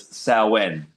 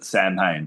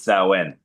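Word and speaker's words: Samhain: kind of known as sen. Some people pronounce it snee but sen.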